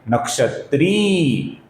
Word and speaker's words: नक्षत्री: इसका सही उच्चारण है नक्षत्री, नक्षत्री।